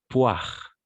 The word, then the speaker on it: poire: Au niveau de la prononciation, on va prononcer poire. Exact, très bien, poire. Parce que la combinaison des voyelles O et I, on va toujours prononcer comme un oie.